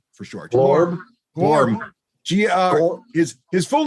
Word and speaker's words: Glorm: I prefer Glorm for short. Glorm. His full name is spelled GLORMORGLULLA, but you can call him Glorm for short.